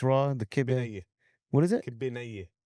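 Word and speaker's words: kibbeh nayyeh: Kibbenaye. What is it? Kibbenaye. Kibbenea.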